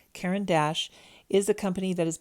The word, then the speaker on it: Caran d'Ache: of French in school I am americanizing this pronunciation so forgive me Karen Dash is a company that